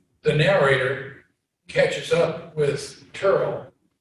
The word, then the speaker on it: Turl: They go, the narrator catches up with Turl, which is Terrell, right? Pronounced Turl, but his name is Terrell.